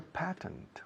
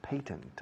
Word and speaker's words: patent: He's a patent or patent. Hay dos pronunciaciones para patentes.